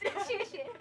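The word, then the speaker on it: 谢谢: 谢谢。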